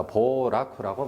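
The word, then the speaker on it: 暴落: 자, 발음에 주의를 하셔야 됩니다. 발음에 이때는 보라고 읽습니다. 보라쿠라고 발음해요. 폭락이라는 단어입니다.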